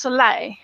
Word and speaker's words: Soleil: And it's really interesting because we were just talking about before of Ali, now I'm going to make sure, is it pronounced Soleil?